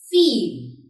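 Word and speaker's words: viel: You must be knowing that V is pronounced as V and I-E is pronounced as E. So, it's feel.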